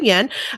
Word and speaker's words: Yan: pronouncing your name correctly Yen I no no that was that was perfect yen is Yen is great yes okay back up